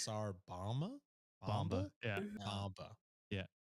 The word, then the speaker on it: Tsar Bomba: I just heard boba. I think I even pronounced that wrong. It's Tsar Bomba?